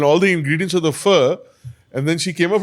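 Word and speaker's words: phở: It's pronounced, it's written ph, but it's pronounced fur. Fur.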